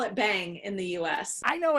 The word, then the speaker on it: Bhang: We call it Bhang in the U.S. I know it's a U.S., but it's derived from an Indian word, yes? Correct. Bhang.